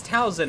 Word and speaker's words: Talzin: I just say Tzin. No, no, no. It's It's Talzin. I'm pretty sure it's Talzin.